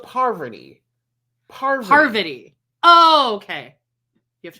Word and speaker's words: Parvati: We have Poverty. She's from Survivor. This guy was Deontay. Isn't it Savarti? I don't think it's pronounced Poverty. I think it's Poverty. Really? Oh, okay. Interesting. Not poverty, but Parvati.